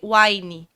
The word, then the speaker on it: Wíne: escreveu w n em inglês eh se lê Wine que significa vinho por sorte gosta completei